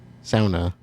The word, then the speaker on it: sauna: Sauna. It's sauna. Oh, it's a Finnish word. And for some reason in the Miriam Webster dictionary, they actually pronounce it incorrectly in the English version.